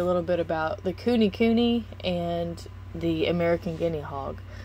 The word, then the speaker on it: Kune Kune: you know like blue um let's see it's pronounced kuni kuni and the word means fat and round in